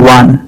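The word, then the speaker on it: one: वान का उच्चारण होता है वान, यानी ये डब्ल्यू कॉन्सोनेंट साउंड से शुरू होता है, इसलिए यहाँ आन नहीं ए लगेगा।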